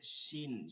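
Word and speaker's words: ش: আছে এরপরে হচ্ছে শিন শিনের সময় তালেব স্বর উচ্চারণ হবে এটা অনেকের ভুল আছে বিশেষ করে যারা ইন্ডিয়ান বা উত্তর অঞ্চলের এদিকে যারা আছেন তারা খেয়াল করবেন এটা হচ্ছে শিন শিন জিহ্বা এবং এবং তালুর মাঝখান থেকে একটা বাতাস চলে আসবে শিন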